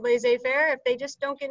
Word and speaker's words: laissez-faire: right and it is it comes from the french so uh it means